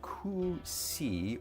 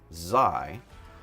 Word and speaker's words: xi: Bill says the official Japanese pronunciation spelled out as that and pronounced kusi or kusai. In English, it is pronounced just like the Greek letter, which is xi, rhymes with pi or bi.